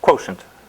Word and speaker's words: QoSient: Quotient. Quotient. Yeah. You pronounce it quotient even though it's an S rather than a T.